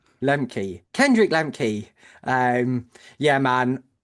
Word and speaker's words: Lemke: Uh, it's Lemi. Lem Kendrick Lmi.